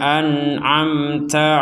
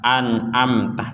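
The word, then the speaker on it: أنعمت: mustaqim kita lanjutkan sirathalladzina an'amta alaihim nah yang perlu diperhatikan an'amta ini dua-duanya dibaca jelas dua-duanya dibaca jelas anamta yang pertama Hamzah yang kedua Ain jangan sama-sama Hamzah jangan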